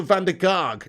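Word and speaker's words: Mitchel van der Gaag: his name guys mitchell van der karg that's the one fandy karg van dyke to rhyme with ten hog that's the one so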